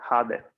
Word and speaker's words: hade: Aquí es breve y suena como en español, hade.